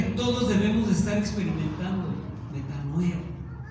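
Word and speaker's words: μετανοέω: genuino, es la palabra metanoeo. Metanoeo, así con acento en la última O. Metanoeo. Como metano, de gas metano, pero le anotas ahí eo y el acento en la O.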